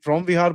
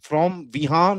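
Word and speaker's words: Preah Vihear: यहां पर यह फ्रॉम विहार बोलते हैं इसको। बहुत यह देखो फ्रॉम विहान नहीं है फ्रॉम विहार बोलते हैं इसको और वहां की स्पेलिंग भी थोड़ी सी डिफरेंट है।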